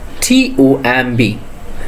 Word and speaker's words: tomb: Next one, TOMB. B will be silent in here. So the pronunciation is tomb.